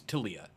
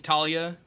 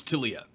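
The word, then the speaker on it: Taliyah: but uh I need to know the correct pronunciation for tiia it's tiia I I thought it was Talia during uh development debed that a lot as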